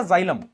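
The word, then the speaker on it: xylem: जाइलम। Spelling याद रखना। जाइलम। जाइलम। एक्स वाई एल ई एम जाइलम।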